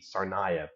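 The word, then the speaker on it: Tsarnaev: the case of the United States against tsarnaya it's spelled t-s-a-r-n-a-e-v sarnaya the name should ring a bell these were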